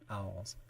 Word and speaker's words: Alls: you talk about it it's meant to be pronounced with um a really round southern drawl yeah owls so where in the